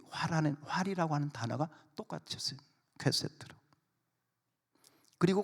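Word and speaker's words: קשת: 자, 그런데 성경적으로 좀 영적으로 조금 더 이렇게 보면 이 활은 히브리어로 퀘세트. 한번 따라서요. 퀘세트. 다시 한번 퀘세트. 좀 발음이 이상합니다.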